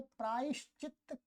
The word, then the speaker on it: प्रायश्चित्त: परंतु ऐसा गलत उच्चारण है। ये क्या है? प्रायश्चित्त है। ये यहाँ पर दो ता और आ है, प्रायश्चित्त।